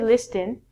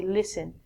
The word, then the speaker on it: listen: We don't say listen, we say listen.